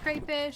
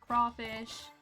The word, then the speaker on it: crayfish: Some people call it crayfish. Some people pronounce it crawfish.